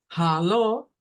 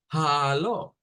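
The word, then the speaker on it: Hallo: alemán tiene dos acentos hacerlo como Halo como haló primero suave la primer sílaba suave la segunda fuerte haló o hacerlo como haló es decir la primer sílaba fuerte y la última suave Bueno aparte de eso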